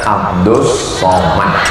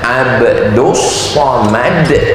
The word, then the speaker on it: Abdul Somad: Namanya Abdus Somad. Tulisannya Abdul Somad. Tapi cara bacanya Abdus Somad.